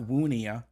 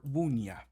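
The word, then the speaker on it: wunnja: That I is pronounced like a J. So it's not woonia, but rather woonya.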